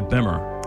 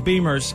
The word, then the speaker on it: Bimmer: Car people call the motorcycles Beamers and the cars Bimmers.